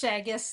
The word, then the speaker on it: Shaigec: It's Shaigec, like haggis with an S, but nobody ever gets it right.